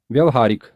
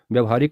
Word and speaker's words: व्यावहारिक: है अगला शब्द है व्यवहारिक व्यवहारिक अशुद्ध प्रयोग है हम में से कई लोग व्यवहारिक का उच्चारण करते हैं जबकि सही उचा है शुद्ध उच्चारण है व्यावहारिक य में आ की